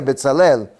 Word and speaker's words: Betzalel: Betelkel significa, o sea, se pronuncia Betalel en la sombra de Dios.